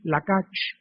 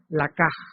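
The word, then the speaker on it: לקח: Se escribe ch, lakach. Ya estamos aprendiendo, pero se pronuncia lakaj.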